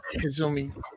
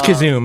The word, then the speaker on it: Kazoom: Okay, well, to be clear, Kazumi, and I hope I'm not mispronouncing your name. It's Kazoom, but that's okay. Kazoom. Oh, Kazoom. I apologize. Kazoom. Oh, no worries. Like Kazoo, like the great.